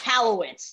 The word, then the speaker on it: Michalowicz: Michalowicz, there we go, Michalowicz.